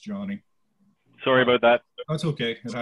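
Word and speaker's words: Gianni: It's I just want to correct everyone. It's Johnny, G-I-A-N-N-I. It's okay. Pronounced Johnny.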